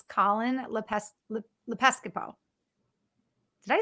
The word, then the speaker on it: Lepiscopo: It's Colin Lepiscopo. Did I say that right? I said it right at the Lepiscopo. beginning. Yeah, Lepiscopo.